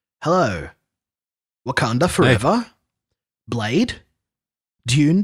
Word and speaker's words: Dune: Dune. How do you say it? I really prefer saying it the American way. If I'm saying it normally, I'll say Dune 2.